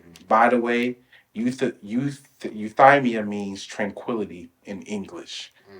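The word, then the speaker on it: euthymia: cica Greek word you how do you say it euthamia uh I think it's euthamia it's e t h y m i a I believe it's you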